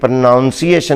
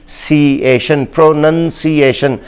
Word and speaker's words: pronunciation: कहता जा रहा हूँ, तो इसको भी हमारे यहाँ प्रोनाउंसिएशन कहा जाता है। ये प्रोनाउंसिएशन नहीं है, ये लफ्ज़ है प्रोनंसिएशन। तो मैंने सिलेबल्स में भी आपको बता दिया है कि प्रोनाउंसिएशन नहीं, प्रोनंसिएशन।